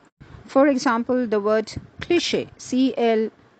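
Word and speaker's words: cliché: enunciate some more words having the CH digraphs that sound as sh or show for example the word cliche c-l-i-c-h-e pronounced as cliche which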